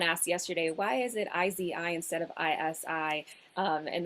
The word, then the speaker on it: ISIS: and their parents so we changed it to izi which is how we pronounced it anyways we always said pronounce it